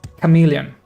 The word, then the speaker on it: chameleon: Chameleon is pronounced as chameleon.